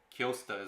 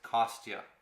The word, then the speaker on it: Kostya: always say it wrong kiosta is what i always say but it's kostya there we go it's gonna